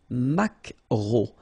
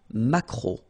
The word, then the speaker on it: maquereau: So technically this K, just pronounce it K, mac, maquereau, maquereau. Alright? And then E-A-U, remember when you combine these three vowels, you get the sound O, maquereau.